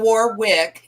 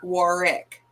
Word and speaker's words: Warwick: Warick yeah it's not Warwick it's Warick war with the the second W is silent oh thank you very